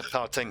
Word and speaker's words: Gauteng: But again, Gauteng has the hard G.